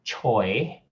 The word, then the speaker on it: Choi: birth to their kids so my last name Choi is uh Cantonese meaning uh Cantonese pronunciation of the Chinese surname Tai and in hokkien it